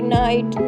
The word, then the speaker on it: knight: KNIGHT नाइट में आई का बाद में GHT है तो आई का उच्चारण आई से किया जाता है।